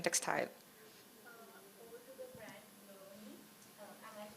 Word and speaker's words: Loni: Over to the brand Loni. Am I pronouncing it right? Loni.